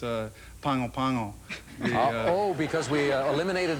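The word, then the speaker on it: Pago Pago: attempt to pronounce uh pangopango uh oh because we eliminated that from the opening right most people say pegopego or pagopago that's what most people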